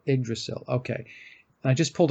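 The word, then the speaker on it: Yggdrasil: it's either that or igdrasil I I believe it's the Y is pronounced like an i oh igdrasil igdrasil okay and I just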